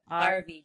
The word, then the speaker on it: Arave: We just RV. answer RV, just like an RV, but yeah, it's spelled Arave, Arave.